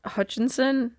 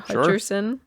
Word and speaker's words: Hutcherson: us go okay um jot Hutchinson is that how you say it Hutcherson plays a security guard